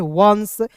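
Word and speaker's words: once: यहां देखिए ओ एन सी ई लिखा हुआ है तो इसे पढ़ते हैं वंस।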